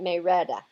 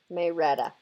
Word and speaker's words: Marietta: Marietta down in Georgia they pronounce that May Retta Marietta but they pronounce it may Rhetta I used to live